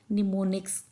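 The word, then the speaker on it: mnemonics: निमोनिक्स बोलते हैं य ये लफ्ज जो है हम इसको प्रोनाउंस करेंगे निमोनिक्स निमोनिक्स और यह चकि इंग्लिश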